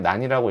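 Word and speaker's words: NaN: 아니에요 어 넘버라 뜻인데 not a 넘버 근데 그냥 난이라고 읽으시면 되거 어쨌든 이건 정의되어 있는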